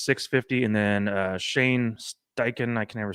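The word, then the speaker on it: Steichen: And then uh Shane Stken, I can never say his name right at uh 2200.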